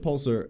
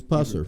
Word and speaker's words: Pusser: Well, Buford Pulser had Pulser, no L. It's a weird name. Mm-hmm. It's spelled strange. It's Pusser, I think. Yeah, it's spelled like Pusser.